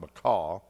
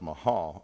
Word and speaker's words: Mahal: It looks like Macaw, but it's actually pronounced Mahal, along with several other wives.